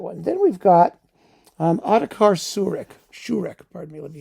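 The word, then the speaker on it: Šourek: Then we've got Otakar Sourek, Sourek, pardon me. Let me get the pronunciation. Sourek, who is a the preeminent Czech Dvorak scholar.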